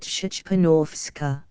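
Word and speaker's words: Szczepanowska: My name is Shpanowska, pronouncing it Shchpanovska. Percival.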